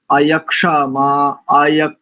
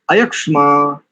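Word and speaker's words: अयक्ष्मा: का प्रथम शब्द देखिए यक्षमा आय ऐसा नहीं करेंगे अयमा और इसके उपरांत आगे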